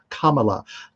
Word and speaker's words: Kamala: that's how it's pronounced kamala kama la comma like the punctuation thing comma kamala harris who